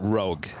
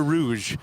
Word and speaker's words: Rouge: okay first of all I call that Rogue okay you know what I'm talking about yep what is that is that Canada Rouge yes but is that